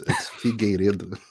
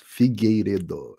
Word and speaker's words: Figueiredo: It's Figueiredo. It's very hard. It's a it's a Portuguese last name. It's Figueiredo. It's hard. The R is the most difficult part, but no one Figueiredo, gets it right.